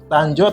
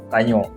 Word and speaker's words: Tanjoe: Jogja di Jogja kalau tanjo atau tanyo nah menarik tuh Mas Jadi kalau dari namanya tuh kenapa kita tulisannya dari tulisannya tanjo ya tapi dari secara bacaan itu sebenarnya tuh bahasa Aceh he tanyo Eja dulu tuh kan